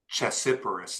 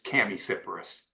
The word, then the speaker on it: Chamaecyparis: It's it's not Chessiparus, it's Chamaecyparis. Yeah. Spelling and the sound is very different.